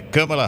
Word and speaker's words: Kamala: A pronúncia do nome da vice-presidente dos Estados Unidos é essa, então, a correta é Kamala Harris. Kamala Harris. A gente fala Kamala, né? Tem muita gente que fala Kamala.